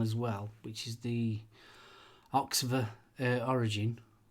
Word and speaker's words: Oxva: well, which is the Oxver Origin. I think it's pronounced Oxver. OXVA. Oxver? Oxver.